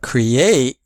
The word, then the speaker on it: create: But create has second syllable is stressed.